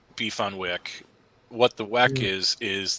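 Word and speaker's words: beef on weck: thing but in Buffalo beef on Wick it's pronounced beef on Wick what the wack is is the Kimo Wick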